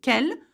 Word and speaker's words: quelles: but that's okay because in French, the sound for what is quel, no matter how you spell it, if that makes sense.